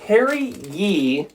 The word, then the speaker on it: Harry Yee: Harry Yee, which rhymes with emergency.